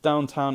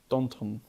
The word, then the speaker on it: Downton: But Dan Stevens was in Downtown Abbey. Downton. Yeah, why'd you say it like that?